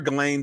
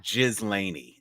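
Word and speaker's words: Ghislaine: I'm calling her Galain because that's how I heard it pronounced. I have sense from some BBC people heard Galain or Glain and But, you know, it's definitely not Jiz Laney. So, I'm going with Galain.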